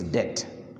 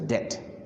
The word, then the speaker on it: debt: Sometimes people pronounce a debt, whatever, it's debt. Okay, B is silent, so it is debt.